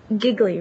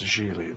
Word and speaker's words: Gigli: mean we actually connected on that level Larry giggly right I saw it on the mailbox yeah it's pronounced Sheely like RH it really well it's nice to